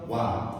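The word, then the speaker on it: は: Kata benda 1 partikel wa ya. Ini ya. Kan kalau di benda bacanya ha, tapi kalau di partikel bacanya wa ya.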